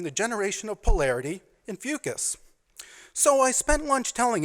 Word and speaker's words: Fucus: And she asked me, "What is Fucus?" and proceeded to phonetically pronounce the word for me. No, honey, it is pronounced fucus, and it's an algae, not a sex act.